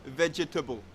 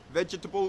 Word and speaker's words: vegetable: In the same vein, we don't say vegetable. Vegetable is incorrect. We get rid of that second syllable, that air sound, and we just say vegetable.